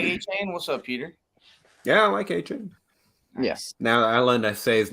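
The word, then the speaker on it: Achane: You like A-Chain? What's up, Peter? Yeah, I like A-Chain. Yes. Now I learned to say his name, so he's not gonna, hate me. I kept reading Arcane.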